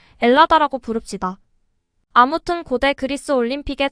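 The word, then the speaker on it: Ελλάδα: 아고 부르길 원하고 있습니다 헬라스의가 무음이 되어 엘라스 혹은 엘라다 아고 발음하는 것이지요 헬라스 헬렌의 후손이라는 뜻입니다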